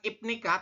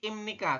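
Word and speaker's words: 입니까: Ini imnika, bukan ipnika tapi imnika. Kenapa biap ini di akhir berubah bunyi menjadi m ya?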